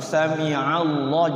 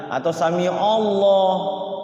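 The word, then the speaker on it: سمع الله: Termasuk samiallah. Jangan sami alla samiallah. Nanti ainnya pakai o. Fathah ain kan pakai a bukan o.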